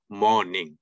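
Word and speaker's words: morning: আমরা মর্নিং না বলে মর্নিং কারণ আর এর আগে একটা ভাওয়াল রয়েছে আরটা উচ্চারণ হবে না গুড আফটারনুন আফটা ঠা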